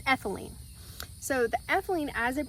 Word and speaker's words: ethylene: But the chemical compound that happens is called ethanite. Sorry, I had to go take a pause to go look that up because I knew it was saying it wrong. It's ethylene.